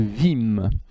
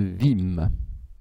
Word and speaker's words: Wismes: l'occident médiéval celle de vim alors vous voyez ça s'écrit wismes mais le est ce du milieu ne se prononcent pas la petite seigneurie rural de vim et à travers la